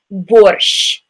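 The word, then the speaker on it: борщ: me ha sure sure this is the letter that's also used in the Russian word borscht right so there's a few different ways that we spell that in English and the reason is because we don't really have that sound in English so the Russian word is borscht so it's that Shh with your tongue close to top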